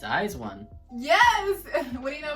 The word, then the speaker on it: IZ*ONE: it's okay anyways i actually don't know what eyes one stands for but i know you do pronounce it that way when i first heard